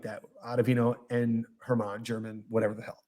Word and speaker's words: German: And then they take on Franklin, and I believe it's German. It's pronounced German.